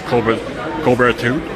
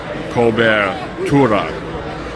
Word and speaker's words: cobertura: But that is kind of a hard word for Americans, Bostonians to pronounce, because there's two-letter R's. And remember, we don't pronounce the letter R. We have to really concentrate. If you're from Boston, parts of New York City, southern Maine, New Hampshire. So, cobertura. And those R's, by the way, are not R. They're arre, like water. Very difficult.